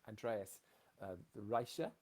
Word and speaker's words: Andreas Richer: And Andreas Richer, if I said that correctly. That was good actually.